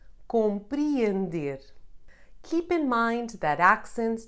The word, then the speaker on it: compreender: You can find it followed by a vowel not forming a diphthong, as in real, or the first E in compreender.